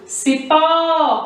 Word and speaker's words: cipó: Cipó, quando eu falo cipó, chamando como se fosse uma pessoa, o que demora mais é o quê? É o pó.